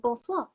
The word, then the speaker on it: bonsoir: Now, if it's evening, you can say bonsoir.